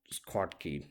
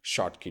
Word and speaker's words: Schottky: that's about this scott scott key diode there are there are different ways to pronounce i think um short key diode that's how i pronounce it okay i will stop